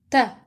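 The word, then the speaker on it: تَ: Ta with fatha is pronounced as ta. Ta with fatha is pronounced as ta.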